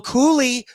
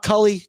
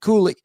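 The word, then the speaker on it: Cuylle: So let's have an awful night with Mika Zibanejad and Will Cooley. We Googled the pronunciation today on ONE. It is Cool-E, not Cully, Cooley.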